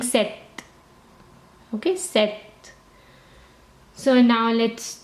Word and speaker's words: sept: a silent P okay imagine as if there is no P and you're saying set set okay you're saying set